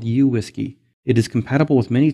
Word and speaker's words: WSGI: Community standardized on the whiskey protocol which many people pronounced similar to the word whiskey having a standard protocol